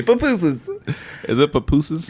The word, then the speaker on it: pupusas: And then you don't say papusas. They say pupusas.